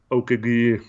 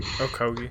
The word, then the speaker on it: Okogie: were saying, or a Okagi, or however you say his name. Okogie. Did I say it right? Okogie. I was close. I didn't say Okagi that time.